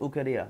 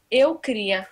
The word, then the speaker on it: Eu queria: So, how do you pronounce it? Ukaria? No. Eu queria.